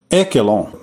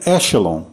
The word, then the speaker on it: ECHELON: mais detalhes né e eu pronunciei Eon mas pesquisando depois no Google no Google Tradutor depois de ter gravado que eu tive essa ideia o Google Tradutor pronuncia echelon paciência O que são